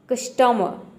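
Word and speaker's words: customer: है क्या करते हैं आर को प्रोनाउंस नहीं करते हैं यानी कि आपको क्या करना है आर को यहां पे आप मान लीजिए कि जो ई आर है इस केवल अ अ प्रोनाउंस करना है र प्रोनाउंस नहीं करना है आधा र का जो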